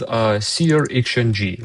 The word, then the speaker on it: SearXNG: Okay, let's start with SearXNG. That's how it's pronounced.